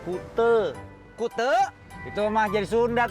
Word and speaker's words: Kuta: be pantai pantai Kute Kuta kali tulisannya Kuta bacanya Kute Kute itu mah jadi